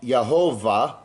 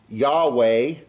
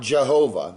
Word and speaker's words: Yahweh: as a v yah yahovah or you can pronounce it as a w Yahweh okay what it is not is not Jehovah there's no J in